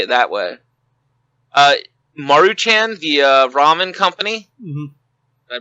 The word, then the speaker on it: Maruchan: now I'm gonna say it that way uh maruchan the ramen company mm-hmm I pronounce that right Jim all right perfect uh